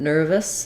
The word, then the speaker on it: nervous: sound and then um nervous the second syllable is going to have a reduced vowel we'll either say that as an i sound or an a sound um so it's just like the word nerve um which is spelled with an e at the end but I'll just write it here without that e and then a short little us or is nervous um he was very